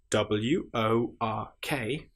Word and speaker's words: work: Just to point out at this stage if you have wo r k that is pronounced work because English is so annoying. work has the sound that we would normally expect to be with an i or e r or u r but instead in this instance because it is irregular work is spelled with o r.